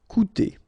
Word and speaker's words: coûter: Okay, keep in mind that even if you've got this accent circonflexe on the top of U, it doesn't change the pronunciation, so it doesn't change this combination of two vowels here, so it will be OU, okay? Coûter.